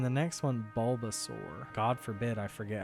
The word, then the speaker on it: Bulbasaur: And then we're going to name the next one Bulbasaur. God forbid I forget how to spell Bulbasaur. Bulb, B-U-L-B, Bulba, S-A-U-R.